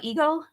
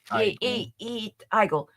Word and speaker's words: Igle: Tom payer and Jamal ego is that how you say his name no um igle uh it's so good